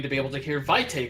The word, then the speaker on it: vitae: And it would be whitey. Whitey. Yeah, AE is A, at least in like choir Latin. Okay. pronunciation. Either way, it's pronounced vitae in VTM.